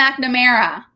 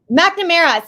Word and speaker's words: McNamara: It's Tommy McNamara. Oh, I thought it was McNamara. McNamara. See, that's the thing, is I always stress it in the wrong syllables.